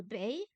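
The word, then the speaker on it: 北: Le EI, c'est Ei, Bei, le nord, Beijing. On peut penser à Beijing pour se souvenir de Bei.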